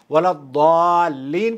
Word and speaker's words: الضالين: تو جن لوگوں نے نورانی قاعدہ یا کوئی اور سے قاعدے پڑھے ہیں، بھائی میرے ضاد کو ضاد پڑھنا چھوڑ دیں، ولضالین کہا کریں، ضاد سے پڑھا کریں، ضالین نہ کہیں.